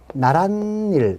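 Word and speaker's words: 나랏일: 그럼 합쳐 읽을 때 얘가 표준 발음이 나란일 이렇게 나온단 말이죠.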